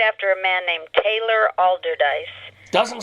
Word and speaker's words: Allderdice: a member of Pittsburgh's allerdyce High School Hall of Fame or I think I pronounced that wrong it's Allderdice high school also tell about it